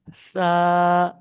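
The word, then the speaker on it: ث: তা তারপরেরটা দেখুন সা সাতার উচ্চারণটা কেমন করবেন আপনার যে জীব আছে না জীবের যে আগাটা আছে ওই আগা আপনার সামনের উপরের দাঁতের আগায় লাগিয়ে দেন বুঝতে পেরেছেন বুঝতে পারছেন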